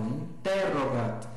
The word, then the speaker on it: interrogat: Na outra, números, na outra, opidum, na anterior, interrogat, não é interrogat, é interrogat. Veja que a penúltima sílaba, ro, é breve, então a tônica vai para o anterior, interrogat.